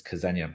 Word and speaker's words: Ksenia: So to Liz's question, the last royal resident at all was a Romanov Grand Duchess called Grand Duchess Ksenia. You can also pronounce it Xenia Romanov, who was Nicholas II's sister.